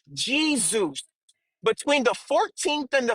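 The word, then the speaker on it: Iesus: From the Greek it went to the Latin which was Eusus or Jesus. During that time in the Latin there was no distinction between the J and the I. So you could have pronounced it either way but typically they pronounced it Jesus.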